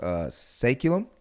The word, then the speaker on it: Saeculum: So switching gears a little bit, I know recently you started your own talent management company called Saeculum. Correct. Is that how you pronounce it?